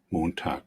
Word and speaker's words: Montag: Montag, Montag, Bueno, los dos acá son con la K. Montag, Montag, Ok, estamos ahí claros que en ambos casos tenemos la K. Sin embargo, nos dice aquí abajo que una pronunciación alterna es usando este sonido que ya hemos dicho que no es una X, o sea, no es como decir tax, no es la X, sino que de